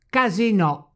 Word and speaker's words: casinò: That's right, because the word casinò is of French origin, therefore the final O must be stressed when it is pronounced French style.